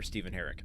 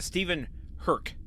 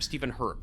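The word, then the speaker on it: Stephen Herek: so uh I have nothing but praise for Stephen Herrick step herck raised my awareness of gortex boots I I actually I read this it's it's pronounced Stephen herk herk okay we've had you know we've had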